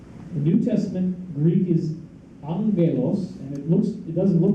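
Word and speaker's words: ἄγγελος: The New Testament Greek is angelos, and it doesn't look like it's pronounced, but that's exactly where angel came from. The first G is a little silent, angelos.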